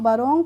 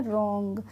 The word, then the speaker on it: wrong: इसी तरीके से होता है WRONG, तो इसको हम बरोंग पढ़ते हैं, इसको हम बरोंग तो नहीं पढ़ते हैं, इसको हम क्या पढ़ते हैं, रोंग। तो इसीलिए इसमें भी हम W का प्रोनाउंसिएशन नहीं कर रहे हैं।